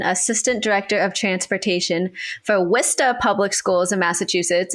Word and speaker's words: Worcester: Director of Transportation for Worcester Public Schools in Massachusetts. It is not Worcester, as it is looks like it is spelled, so I got that lesson a little earlier.